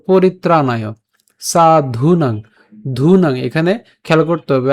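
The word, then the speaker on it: সাধূনাং: না সো এখান থেকে পরিত্রাণ পরিত্রাণ সো পরিত্রাণায় সাধুনাং ধুনাং এখানে খেয়াল করতে হবে আমাদের এখানে ধ এর সাথে দীর্ঘকার আছে ঠিক আছে এখানে কিন্তু দ নাই অনেকে সাধু উচ্চারণ করে এটা কিন্তু সাধু না সাধু ঠিক আছে কারণ ধ আছে সাধুনাং এরপর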